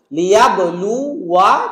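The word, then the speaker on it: লিয়াবলুওয়া: একটা আলিফের সার্কেল আছে, তাহলে আমরা ওয়াও জবর ওয়া পর্যন্ত পড়বো, মনে করবো আলিফটা আসলে নাই উচ্চারণের ক্ষেত্রে, বাট লেখার সময় কোরআনে অবশ্যই থাকবে। লিয়াবলু ওয়া, লিয়াবলু ওয়া, শেষ, বলবো না ওয়া, এরকম বলবো না, বা ওয়া আলিফ মাদ করবো না।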